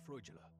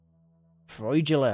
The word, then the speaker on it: Freudgele: like to talk to Dr frula frula that's how you say it Mr trust you